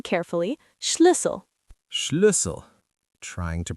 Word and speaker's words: Schlüssel: It's Schlüssel, pronouncing carefully, Schlüssel. Schlüssel. Trying to pronounce it. Schlüssel. That's a tricky one. Yes, the U sound is hard for English speakers. It's like saying E, but with rounded lips.